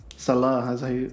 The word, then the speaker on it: Saleh: fact checker let's see Robert Saleh Salah is how you pronounce it oh my bad apologies